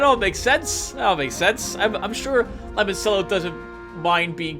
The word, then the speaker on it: limoncello: Before we go any further, Windwater has corrected my pronunciation of limoncello. I believe it's pronounced limoncello, and it turns out